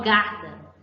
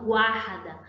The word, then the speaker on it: guarda: eles foram pronunciados guarda eu não falo garda fala guarda guarda certo então vamos